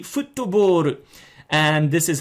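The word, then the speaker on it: フットボール: I mean, it's an English word, and if you pronounce it in the Japanese way, it would be futtoboru.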